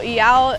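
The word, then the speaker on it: Iao: And someone online said it's like saying meow but without the M.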